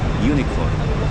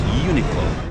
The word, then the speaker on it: Uniqlo: This store is all over the world and it's Unilo. Uniqlo. Yes, Uniqlo.